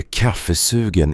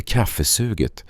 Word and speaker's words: kaffesugen: Det heter kaffesugen, inte kaffesuget, sa Sanna och log.